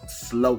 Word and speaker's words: SLO: now we call this something it's like a slow funnel and you pronounce it s-l-o and that's an acronym for